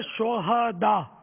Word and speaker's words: شہداء: یہ صحیح تلفظ ہے شہداء، صحیح. ہاں پر زبر آئے گا. شہید کی جمع ہے شہداء. شہداء ہاں کو ساکن پڑھنا جو ہے نا یہ اس کے معنی بدل جاتے ہیں.